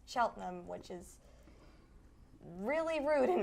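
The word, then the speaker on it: Cheltenham: um a lot of people think it's chel sheltonham but since that's what it looks like yeah that's how it's spelled but since it's from the from a British dialect it's pronounced cheltam which is really rude in my opinion exactly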